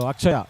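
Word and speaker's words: Atchaya: So Akshaya actually is what the name is, Akshaya. And it is written as A-T-C-H, Akshaya.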